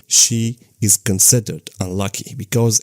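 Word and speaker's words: 四: In Japanese tradition, the number 4, she, is considered unlucky because it's pronounced exactly like the word for death, she, and because of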